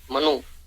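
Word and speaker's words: Mannus: है जिसका नाम है मनुष एम A double N यू एस मनुष एस को साइलेंट कर देते हैं तो मनु उनके पास भी मनु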